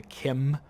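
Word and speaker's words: Chim: me to talk about the Kim which is spelled c h i m which is the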